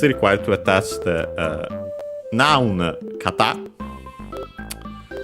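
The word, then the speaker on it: 方: In this case, required to attach the noun kata, accented on the last syllable on its own, means direction, way.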